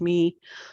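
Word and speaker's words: Mie: of the smaller craters me I think it's pronounced me m i e um at in Utopia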